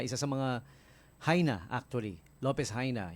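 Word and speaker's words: López Jaena: Lopez Haina, yun ang pagkaka-pronounce doon.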